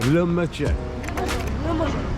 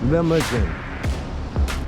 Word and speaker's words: Lahmacun: Lahmacun. Lahmacun.